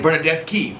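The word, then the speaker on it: Bernardeschi: So if it's like CH, you pronounce it. Chi. You pronounce it ka. Ka. Like Bernadeschi with a CH, right?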